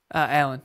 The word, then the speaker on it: Alan: How do you pronounce it? Alan, yeah.